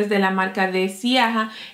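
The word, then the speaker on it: Ziaja: de la marca de Siaja. Esto, de Yaya, porque es Yaya que se pronuncia.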